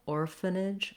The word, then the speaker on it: orphanage: Definitely 3 syllables, orphanage, with our length on the first syllable.